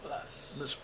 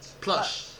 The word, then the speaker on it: Plush: You just say Plush. Plush. You gotta add the H. Plush.